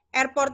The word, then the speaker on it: airport: Airport ini adalah stressnya di port.